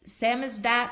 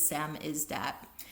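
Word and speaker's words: samizdat: The program successfully provided the technical infrastructure that allowed the Samis Samisdat I always pronounce it wrong. S A M I Z D A T I think it is Sam is that of the digital age to flourish.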